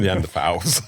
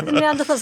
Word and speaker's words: Neanderthal: So you spell it with a TH, but you pronounce it Tal. Okay. Yeah. Will people be offended if I just still call them Neanderthals?